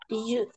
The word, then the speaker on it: June: June, June.